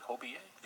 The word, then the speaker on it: Hobiyee: spirit of our our ancestors sheldon what does hobie a mean am i pronouncing that correctly hobie a yes hobie hobie is um a celebration for